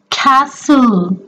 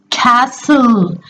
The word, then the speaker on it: castle: fun with the sounds the next word is Castle listen it carefully Castle can you hear the sound of in this